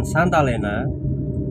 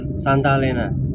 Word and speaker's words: Santa Lena: jalan yang melingkar nah jalan itu namanyaint Helena Mbak itu bahasa Inggris ya Nah karena diucapkan oleh orang lokal bengkulo dengan sebutan Santa Lena karena lidahnya beda ya maka terucaplah Santa Lena Santa Lena nah kemudian